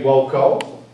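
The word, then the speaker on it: voco: W wam wus W notice I'm pronouncing the v as a w that's how we pronounce it in classical Latin wco w w w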